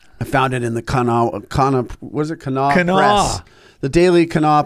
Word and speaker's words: Kanawha: Yeah, so check out Unity of Kanawha Valley. Yes. How do we spell that again?